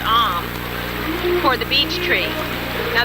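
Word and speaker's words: Ogham: It's the Om symbol, that's O-G-H-A-M, but it's pronounced Om, for the beech tree.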